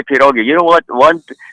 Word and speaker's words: pierogi: The way you pronounce it is one pierog. One you know, if you're pierog. going to, let me have one pierog then.